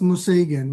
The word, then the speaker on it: Museigen: So let's start with your first question about it's pronounced Museigen, which is essentially Japanese for limitless.